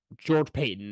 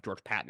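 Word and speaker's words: George Paton: And then George Payton and then firing Sean Payton. It might be George Patton, actually, is how it's pronounced, but get rid of both of them.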